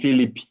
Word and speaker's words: Philippe: You see F and P, H, giving us the F.